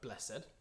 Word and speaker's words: blessed: I know of a lot of choirs that really struggle with the word blessed and it's the second second syllable again blessed sit blessed said blessed